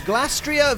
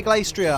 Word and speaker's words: Glastrier: here we go it's glastria versus spectria you can also say glacier i don't really mind like i'll pronounce it how i pronounce it you pronounce it how you pronounce it